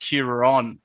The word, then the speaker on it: Kieran: everything wrong uh yeah so oh it's actually pronounced curan because it's an irish name and it actually